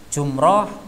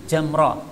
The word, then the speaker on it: jamrah: Nah, bisa jadi juga ini Thaur, kemudian kita baca Thur nih. Jumrah itu orang Indonesia menyebutnya, dalam hadis jamrah.